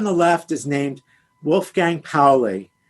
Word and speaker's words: Pauli: left is named wolfgang powley paulie is the pronunciation of his name in german you could say paulie but the correct pronunciation is paulie and he was born